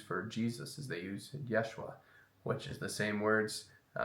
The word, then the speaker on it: Yeshua: with Jim cavel as playing Jesus that's the pronunciation that they use for Jesus is they use Yeshua which is the same words U same one